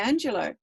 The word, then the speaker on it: Angelou: an african-american woman um the name is spelled m-a-y-a angelo um same as it's like angelo but oh you on the end i think she is